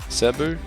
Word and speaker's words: Cebu: do you how do you pronounce it on pronounce it right Cebu what's so good about subbu yeah